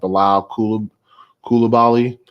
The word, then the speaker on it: Bilal Coulibaly: Since my last posting on this, Washington Wizards rookie, he pronounces like Bilal Coulibaly.